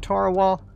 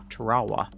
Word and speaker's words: Tarawa: invasion of Tarawal, and I have heard it pronounced, Tarawa. So I'm not sure which one is correct, but I think it's Tarawa, honestly. Because if I recall correctly, that is how the people who live there pronounce it.